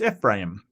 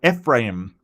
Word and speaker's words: Ephraim: Um, and Ephraim. God, I should have looked that one up as well. Um, Ephraim. Yes, Ephraim. Okay, I mean, need to put a bit more oomph into the im. Ephraim.